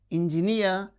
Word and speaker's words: engineer: And these words, mountaineer, engineer. So, words that end with uh the suffix near receives stress on the suffix itself. Mountaineer, engineer, pay, refugee.